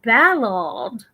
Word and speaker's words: Ballard: So in Britain, they say Ballard.